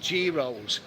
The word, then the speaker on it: gyros: It's spelled gyros with the Y, but they call it gyros.